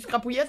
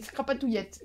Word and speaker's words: scrapatouillette: J'ai encore rajouté une syllabe. C'est plus scrapouillette, c'est scrapatouillette. Les pauvres, c'est déjà long à écrire.